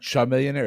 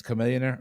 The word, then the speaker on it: Chamillionaire: A Millionaire right yeah Chamillionaire I think is it oh my god I've been saying his name wrong since that song came out it's not Char millionaire it's Chamillionaire okay I I might